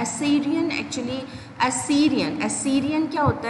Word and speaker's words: Assyrian: एसेरियन actually एसीरियन क्या होता है? एसीरियन इज़ a tribe, okay, the pronunciation is एसीरियन, okay.